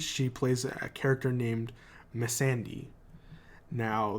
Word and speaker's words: Missandei: And on Game of Thrones, she plays a character named Missandei. Now, the first correction is that I pronounced it wrong last week. I said Mercedes.